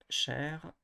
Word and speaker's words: chercher: Chercher. So it's always the last syllable which is pronounced. I mean stressed, sorry.